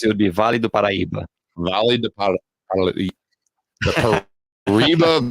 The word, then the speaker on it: Paraíba: So we're in Taubaté, Brazil, but it's easy to say the Paraíba Valley. The Paraíba Valley? Yeah, Paraíba Valley. Paraíba Valley. In Portuguese, it would be Vale do Paraíba.